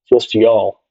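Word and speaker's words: Youghal: um pronounce that for those of you listening it's spelled y o u g h l just y'all y' y' espano players know how to say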